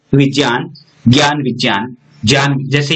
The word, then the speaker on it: विज्ञान: शुद्ध उच्चारण क्या है? विज्ञान।